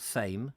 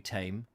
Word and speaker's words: Thame: Leave Tame. It's Tame, isn't it? Not Thame. Is it Thame? I never quite know on that, Tame, because the Thames is the Thames.